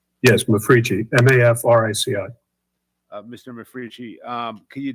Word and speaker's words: Mafrici: McFrici? Is that correct? Am I pronouncing that correct? Yes, Mafrici, M-A-F-R-I-C-I.